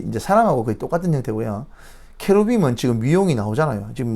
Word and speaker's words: 케루빔: 뭐 어떻게 발음하는 그룹 케루빔 하니까 이게 그룹으로 이제 들렸나 봐요. 케루빔 하니까 그룹이 아니고 케루빔이라는 천사입니다. 천사.